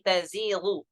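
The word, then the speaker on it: تَزِيغُ: Sedangkan di riwayat Syu'bah ya yazighu bitta'i dengan memfathahkan dengan diganti ta ya. Jadi tazighu.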